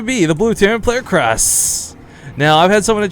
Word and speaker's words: KrasS: This is going to be the blue Terran player, KrasS. Now, I've had someone in chat just correct me. And it's supposedly pronounced closer to the word, to the sound of crust.